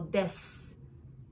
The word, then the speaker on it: です: So is the U sound at the end sometimes silent? You? Like です. We don't say うです. We don't say that. So です. So it's like just S sound.